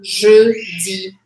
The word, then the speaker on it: jeudi: Esse je, a primeira sílaba, som fechado. Je, je. E a segunda sílaba, feliz. Jeudi.